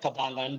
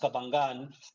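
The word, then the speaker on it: Cabangan: we first moved in here it sounds like kabalyn but it's actually pronounced kabangan and um there is that feeling of of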